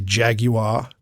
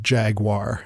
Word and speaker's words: Jaguar: I would do my best to say Jaguar, because that's how they say it on the commercials. It's not Jaguar. We know better than that.